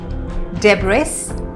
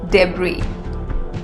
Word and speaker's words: debris: my breakfast today breakfast debris debris no it is debris debris a big team is